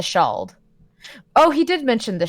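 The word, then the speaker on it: Ceald: Also, the place Kiel is apparently pronounced the Shald.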